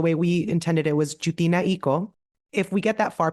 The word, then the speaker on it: Jewtina: won't know where it goes correct way to pronounce it the way we intended it was jinao if we get that far people will then